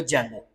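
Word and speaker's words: Django: जेंगो। बस डी जेंगो actually है बट उसकी प्रोनाउंसिएशन जो है वह जेंगो है।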